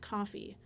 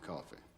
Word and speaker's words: Coffey: Your name is Coffey. Yes, sir, boss. Like to drink. Only not spelled the same.